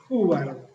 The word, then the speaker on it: Hubbard: Eh Hubbard, y lo digo así más castellanizado.